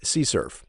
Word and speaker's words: CSRF: riding again I mentioned it's pronounced see Cerf so it requires the